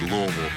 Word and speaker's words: Louisville: If you want the proper pronunciation of Louisville, act like you got some marbles in your mouth and just say Louisville.